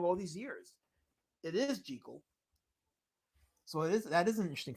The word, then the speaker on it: Jekyll: So it is Jekyll, not Jekyll.